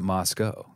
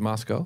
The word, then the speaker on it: Moscow: so you pronounce it Moscow is it Moscow it rhymes with Idaho Moscow Idaho there you